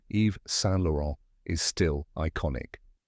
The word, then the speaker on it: Yves Saint Laurent: it pronounced even softer EV San with the final n barely pronounced many people say yees s lauron or EV s lauron